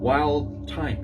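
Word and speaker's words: Wildthyme: Wild Time. Yes, pronounced that right.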